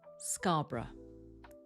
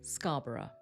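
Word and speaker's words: Scarborough: Put the stress on the first syllable and remember the rest is less important. That's right. It's scarra. Scarra or Scarbor. Scarbor.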